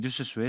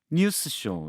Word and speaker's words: 뉴스쇼: 뉴스쇼를 한 단어로 인식하셔서 아. 한꺼번에 발음해야 한다고 강박관념을 갖고 계시는 것 같거든요. 예. 근데 분석을 해 보면 뉴스와 쇼라는 두 단어가 합쳐진 거죠.